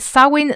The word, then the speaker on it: Samhain: And Samhain likely comes from, Samhain is pronounced like this in modern Irish, and it's not certain